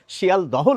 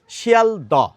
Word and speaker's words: শিয়ালদহ: আমরা তো কষ্ট করে উচ্চারণ করতে চাই না, সেই জন্য হটি বাদ দিয়ে উচ্চারণ করি। তাহলে কি হয়ে যায়? শিয়াল দ।